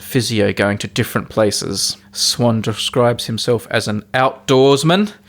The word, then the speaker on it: Swann: us out is swan swan brackets pronounced like the bird oh right but is spelt like the bird with two ends not one uh swann is from france from